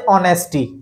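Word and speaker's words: honest: ऑनेस्ट हो सकता है, तो वहां भी एच साइलेंट है क्योंकि आवाज क्या आ रही, ए की, आ की, है ना, ऑनेस्ट, आ की आवाज आ रही है।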